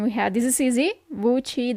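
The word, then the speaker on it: WC: have this is easy vui W says vui in Italian vui the shower La DOA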